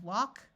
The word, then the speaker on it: walk: broad sound of a so we have walk talk chalk and stalk in all these words the a has its broad sound of a and the L is silent in this column I